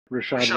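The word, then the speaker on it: Rachaad: um R rad white is that how you pronounce it Rashad Rashad white there it is yes uh and then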